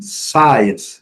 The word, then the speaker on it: science: Não pronuncia o C, mas pronuncia o S com som de C, fica na mesma, ok? Sim, science, scissors. Então, a gente coloquei todos juntos aqui só para a gente saber, porque realmente o C não é pronunciado, mas o S tem o som de C, fica da mesma coisa.